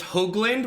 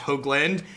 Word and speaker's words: Hoagland: It's Hoagland with a long O sound. It's funny. I remember the first time it was after I had a couple of top 8s and I went up to Cedric after one of my matches. I was like, just so you know, my last name's pronounced Hoagland.